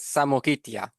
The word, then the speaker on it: Samogitia: Uh it is pronounced as Samoitia. Samogitia.